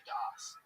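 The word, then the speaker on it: דעת: The Das is how you say it in Ashkenazi Hebrew, but this idea, he's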